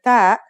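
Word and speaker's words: ط: It kind of sounds like the T in the name Tom. When you pronounce it, try to constrict your throat like you did with sad.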